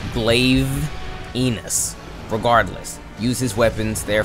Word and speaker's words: Glavenus: more punctuation punctuation pronunciation Punctuation is different but if you want to get on me for that it's glaive enus regardless use his weapons